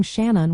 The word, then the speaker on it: Shannon: The first part Shan rhymes with man, while the second syllable is a soft un.